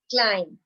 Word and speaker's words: climb: 3, climb. What is silent? B is silent.